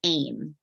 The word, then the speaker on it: AEEM: your day-to-day life and I use the acronym aim but I spell it a little differently I use the acronym